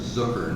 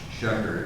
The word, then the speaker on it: Zucker: So my last name is Zucker, not Shecker. It rhymes with hooker.